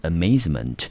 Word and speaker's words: amazement: 的字尾，一样的重音落在第二个音节，这个字我们念成 amazement，它是一个